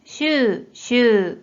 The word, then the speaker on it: 週: 자, 이 한자 뜻으로는 발음이 없고 음으로만 週、週、 라고 길게 발음해줘요.